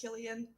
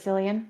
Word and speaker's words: Cillian: three years ago that his name is pronounced Killian did you think it was sillian yep they called him